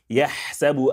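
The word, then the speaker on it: يحسب: Yahsabu anna malah, malahu akhladah. Yahsabu, yah, yah. Pay attention to that. Yah, yahsabu. It is very crisp and clean.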